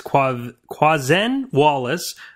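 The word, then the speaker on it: Quvenzhané Wallis: We have, I thought I knew how to pronounce her name until recently. But I believe it's Quazen Wallace for her performance in Annie.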